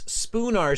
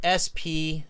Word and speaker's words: Spoonar: Aisha says it's Spoonar Street, spelt S-P-O-O-N-A-R. Spoonar, yeah, and they spell it, right? So just like the utensil, the spoon with an A-R at the end.